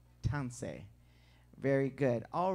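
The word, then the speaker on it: tansi: do you pronounce that so once again it's pronounced tansei tansei very good all right wasn't this wonderful amen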